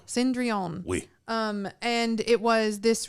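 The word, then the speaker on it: Cendrillon: it was cinderella um i think they pronounced it cinderell cindreon um and it was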